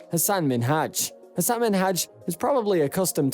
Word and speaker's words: Minhaj: She kept pronouncing Minhaj as Minaj, and truthfully, no one likes to hear their names mispronounced.